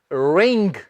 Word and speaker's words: wring: जी हां, ਇਹਦਾ जो उच्चारण है वो है रिंग।